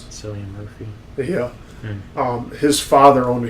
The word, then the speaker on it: Cillian Murphy: Is that how you pronounce it? Cillian Murphy.